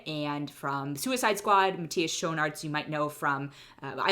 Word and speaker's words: Schoenaerts: of the two leads it's matthias schonartz or probably show in arts it's as how i'm guessing americans would pronounce it but he's belgian so it's shown arts and joel kinnaman who